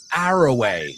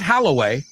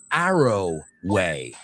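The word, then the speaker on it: Arroway: Dr. Ellie Arrowway, not Halloway like Virginia Wolf's novel, which we were celebrating today, the publishing of. No, this is Arrowway.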